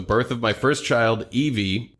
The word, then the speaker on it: Evie: of my first child, Eevee, pronounced Eevee like the Pokemon, but spelled Evie, who is now 2 months old as of writing this message.